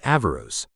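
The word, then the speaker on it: Averroes: Western Europeans read natural philosophy such as Alhayam's writings on optics and the arisatilian commentaries of Iben Rashid whose name they pronounced as avarus.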